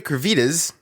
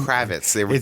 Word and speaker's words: Kravitz: will be playing this young batman now zoe cravitas kravit can you can you do not even know how to pronounce her name kravitz zoe kravitz will be playing catwoman selena kyle